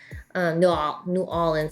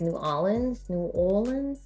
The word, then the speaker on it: New Orleans: New Orleans. Apparently I say it wrong. It's like New Orleans.